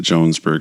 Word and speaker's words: Jonesburg: song is Jonesburg Illinois spelled Jonesburg but he kind of pronounces it Jones BG so maybe maybe it